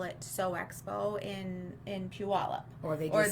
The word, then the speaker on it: Puyallup: lot of people call it Sew Expo in Puyallup, Or they just say the Puyallup show.